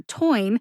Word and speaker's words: phenytoin: short I sound and that last syllable t-o-i-n or toin is pronounced like the word toy with the letter N at the end toin the USB dictionary